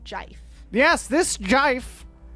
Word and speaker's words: GIF: I feel like David Lynch would pronounce it Jif.